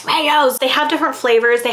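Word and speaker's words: Rao's: about this brand here it's rayo's hopefully i'm saying it right someone corrected me last time i talked about it they're like it's rayo's they have different flavors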